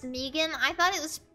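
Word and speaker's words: M3GAN: watched that movie and it was awful it's pronounced Megan I thought it was pronounced mathrigan Megan watch a long win uh now right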